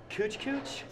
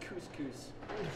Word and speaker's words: couscous: Yes, could I have some of your pita bread and some of your succulent cooch-cooch? Cooch-cooch? Cooch-cooch? Cooch-cooch? Bro, it's pronounced couscous.